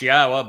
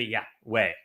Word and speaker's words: Yahweh: And they changed Yahweh's name, which is clearly pronounced Yahwa based upon Torah, based upon Haya, to Yahweh.